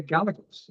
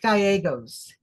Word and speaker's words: Gallegos: And here we are with uh Sophia Gallaos. Is that how you say your last name? Gagos. Uh it's pronounced Gyos. Gogos. Gyos. Yes. It's a Spanish name.